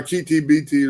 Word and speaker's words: Akiti Biti: But Baba Akiti Biti is the way it's pronounced, Baba Akiti Biti. Just say that twice.